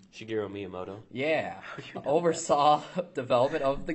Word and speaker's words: Shigeru Miyamoto: Does anybody know how to pronounce his name? Shigeru Miyamoto.